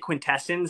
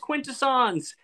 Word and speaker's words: Quintessons: bit yes the quintessons we pronounce it quintessence and then someone on one of my videos was like it's pronounced quintasons sorry you know they